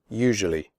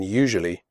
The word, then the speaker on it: usually: picture adventure future nature usually the first you in usually is pronounced like the word you the S is pronounced like a jerk in television usually tough the word